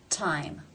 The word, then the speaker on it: time: It's at the beginning of the word, therefore it is pronounced with the real T sound, T. Time.